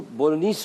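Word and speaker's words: Bolognese: Elbow pasta ये बना रहे हैं हम बोलोग्नीस सॉस के अंदर। अच्छा, ये मैं आपको बताऊँ कि ये जो बोलोग्नीस सॉस होता है इसको बोलोनीस सॉस भी कहते हैं, जी साइलेंट होता है इसमें।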